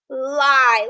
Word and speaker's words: lie: This is acting as adjacent vowels, so the second one is silent and the first one is long.